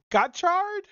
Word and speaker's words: Gotchard: It's Gotchard, but Gotchard? it's supposed to be a play on words for gotcha.